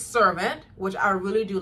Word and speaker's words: Servant: all I'm back to watching servant it's not sarant like I always pronounced it but there is a word called cant but it's servant which I really do like and so it